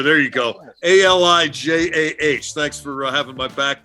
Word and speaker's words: Alijah: And I, in my intense study of him, I did not get a correct pronunciation of his first name. Elijah, there you go. Alijah.